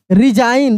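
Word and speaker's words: resign: असाइन आर ई एस आई जी एन रिजाइन। देखिए यहां पर भी एस को ज पढ़ रहे हैं। रिजाइन लेकिन जी का उच्चारण नहीं कर रहे हैं।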